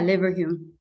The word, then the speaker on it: Leverhulme: um Dr wallachi is a lever home is that how you say it yeah liver Hume liver Hume early career fellow in